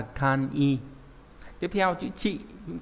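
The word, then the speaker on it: 簡易: Ví dụ cô eki là chữ giao, chữ dịch thì đọc là eki, nhưng mà giản dị sẽ là kan i.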